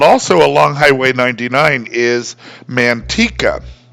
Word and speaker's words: Manteca: However, there's one thing that doesn't vary by region, that is that the word should be pronounced manteca in Spanish. However, in California, this town is called Manteca.